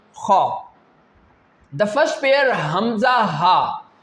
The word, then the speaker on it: خ: This pair is pronounced from that part which is towards your mouth. How can we pronounce this pair? Ghain Khaa. Ghain Khaa.